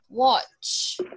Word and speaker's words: watch: You see, there is a letter T over here, and we need to pronounce it. Watch. Watch. Watch.